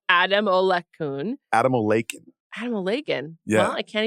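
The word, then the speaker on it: Adamolekun: Let me just say his name properly for the camera. They're back with a new CEO named Damola Ademola-kun.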